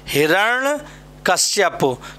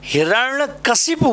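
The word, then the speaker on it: हिरण्यकशिपु: ये बेटा वर्ड जो है कहीं ना कहीं एग्जाम में ज़रूर मिलेगा, हिरण्य कश्यप। तो ध्यान रखना है, इसका जो बोलने का प्रोनाउंसिएशन है वो हमें ठीक रखना है। हिरण्य कशिपु बोलना, क्या बोलना?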